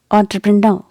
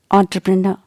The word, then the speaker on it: entrepreneur: true pro no and emphasize this last syllable when you pronounce it so how to say it entrepreneur entrepreneur okay keep the letter